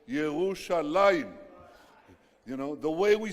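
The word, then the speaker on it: ירושלים: It says, it doesn't say Jerusalem, it says Yerushalaim.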